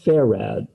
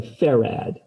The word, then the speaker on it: farad: though they are 46 micro f f is pronounced ferrad f-a-r-a-d everybody say ferrad ferrag okay so this is 46 micro farad